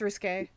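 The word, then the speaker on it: risqué: Is that how you pronounce it? Yeah, it's risque.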